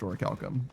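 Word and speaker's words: orichalcum: It's definitely pronounced with like what Chef said, but habits die hard.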